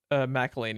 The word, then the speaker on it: McElhenney: McElhaney.